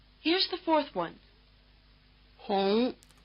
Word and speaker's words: Hong: uh which is not quite the same is spelled with the U in Honolulu. Try repeating. Here's the fourth one. Hong. Notice that this does not sound much like the English vowel we use for Hong Kong.